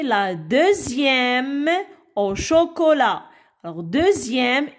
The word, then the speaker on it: deuxième: Alors, deuxième, X ici se prononce, se lit Z.